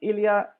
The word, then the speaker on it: Ilia: i am here with ilya and i hope i pronounced your your name right is that correct elia yeah it is correct fantastic so ilia is